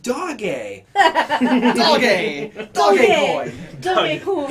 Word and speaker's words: Doge: the newscasters who had no idea what Dogecoin was, trying to pronounce Doge. It's pronounced Doge.